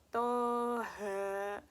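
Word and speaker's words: طه: Toha, toha. Nah, seperti ini cara membaca hukum bacaan lazim harfi mukafaf. Jadi dibacanya itu selama 2 harakat.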